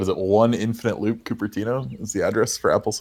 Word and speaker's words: Cupertino: Well, it's spelled C-U-P Ertino, so I'm pretty sure most people would call it Cupertino.